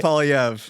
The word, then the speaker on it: Poilievre: We talked about the conservative leaders' challenges and the situation, and I still can't pronounce his name. He's trying not to. PP. Pierre Poilievre.